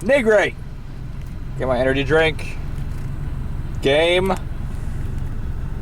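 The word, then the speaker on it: Nigri: Jessica NRI you know I said her name wrong before NRI um it's not NRA it's NRI get my energy drink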